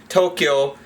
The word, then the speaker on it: Tokyo: Tokyo is Tokyo, as we fucking commonly call it. Tokyo is how we pronounce it in Japanese. And as you can see, we have the chi-cha-yo here in the fucking hiragana to make the kyo sound.